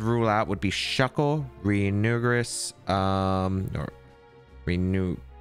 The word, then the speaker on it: Runerigus: Like, I'd say the Pokemon I would rule out would be Shuckle, Reunguris, or Renew, I don't know how you pronounce that Pokemon. Runerigus? Oh, it's Runerigus.